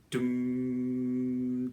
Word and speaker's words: doom: sectional, but to reiterate, the syllable doom, D-O-O-M, really think of it as D apostrophe M. We don't need to hear any sustained vowel in that, just dum, da-dum.